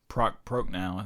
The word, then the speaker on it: Prochnow: for me is and forgive me if I mispronounce his name, but Jürgen Prochnow. Prochnow is what I looked it up. Oh, did you? Okay, I assumed. I've since forgotten. I think it's it's Jürgen, definitely Jürgen Prochnow.